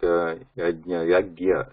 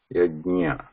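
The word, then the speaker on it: यज्ञ: So many times you hear the pronunciation like yagya. Some people they pronounce it like gya, yagya. It's not yagya, yajnya, because nya has to be there.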